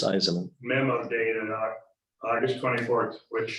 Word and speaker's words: Eisman: It's 3 syllables, Eisman.